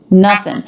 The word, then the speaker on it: nothing: nothing no nothing now here the O the letter O makes the uh as in butter vowel so even though